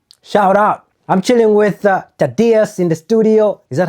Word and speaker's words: Tadeus: I'm chilling with Tadeus in the studio. Is that how you say it? Tadeus.